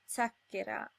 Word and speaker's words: zacchera: The two possible pronunciations of Z are Z as in zero or Ts as in zacchera.